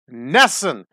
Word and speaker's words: NESN: Color on Nessun that's right I got that pronunciation proper it is Nessun that's the Northeast Sports network still in existence